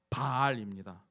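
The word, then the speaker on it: בעל: 히브리어로 남편이라는 단어를 어떻게 발음하는지 아십니까? 바알입니다. 히브리어로 남편이 바알이에요. 우상 바알과 남편 바알이 똑같이 발음된다는 것입니다.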